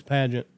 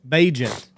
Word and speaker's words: Bagent: Who's Pageant? The quarterback for the Bears. Bajent. Is it Bajent? Bajent. How do you spell it?